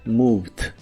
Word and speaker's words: moved: agrega la terminación ed, aunque solo se pronuncia la d, así que se dice moved, moved, y lo puedes usar en ideas como The car moved slowly, el coche se movió lentamente.